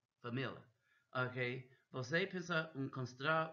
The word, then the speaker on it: família: Okay, that's how they say it. Uma família, família, uma família, not Lia, família.